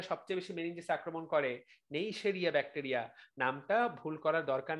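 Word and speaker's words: Neisseria: বেশি মেনিনজেসে আক্রমণ করে, নেইশেরিয়া ব্যাকটেরিয়া। নামটা ভুল করার দরকার নাই, উচ্চারণটা শুনে নাও, নেইশেরিয়া, নেইশেরিয়া। আমরা এটা এভাবেও বলতে পারি, সেই যে রিয়া মেয়েটা ছিল, ওই রিয়া মেয়েটা কিন্তু এখন আর নেই।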